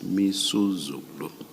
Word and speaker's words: Misuzulu: I mispronounced the king's name is Misuzulu.